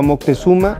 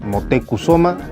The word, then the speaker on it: Motecuzoma: Luego de unos meses toma prisionero a Moctezuma, el rey, que en verdad se llamaba Motecuzoma, pero a Cortés le valía ver la pronunciación de un idioma que no era el suyo.